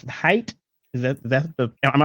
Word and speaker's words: Hite: well how are you great great now it's height is that that the am I proper uh pronouncing it the proper way yep that's correct height okay all right so Mr height like I